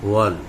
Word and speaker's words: whorl: ये वाला बच्चों नीचे का आउटर साइड से जो घेरा होता है वॉल, इसको वॉल कहा जाता है। ये वॉल की स्पेलिंग है बच्चों, ये WHORL, वॉल मतलब होता है घेरा, एक चक्र।